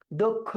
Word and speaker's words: দক্ষ: দক্ষ জনশক্তি। আর আমরা জানি ক্ষীয় থাকলে তার আগে একটা সংবৃত উচ্চারণ হয়।